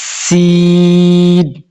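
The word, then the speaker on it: س: তিন রাত এটাকে বলে সিন সিন সিন সিন সিন যখন সিন বলবেন তখন মুখ ছড়ায়া যাবে এবং হালকা বাতাস বাহির হবে এরপরে দেখেন সিনের মতই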